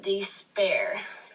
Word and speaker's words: despair: So in despair, you have AIR, and you also pronounce that air. Just looks like the word air. So that's second syllable accented.